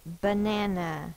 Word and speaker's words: banana: These two say A because they are in the unstressed syllable.